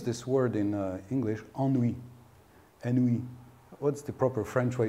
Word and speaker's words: ennui: Ennui. What's the proper French way to pronounce it?